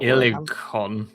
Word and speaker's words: Ilekkan: Uh and then we have Vilhon Reach, the Emerald Enclave's mystical land of Ooh, how do you pronounce that? Ilekkan. Ilekkan.